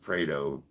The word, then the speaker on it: Pareto: Am I mispronouncing it? I believe it's just pronounced Pareto.